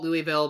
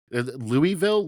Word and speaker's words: Louisville: that is pronounced Louisville that sort of slurred together but it's named after the French monarch yeah yeah if you're not from there you call it Louisville but if you know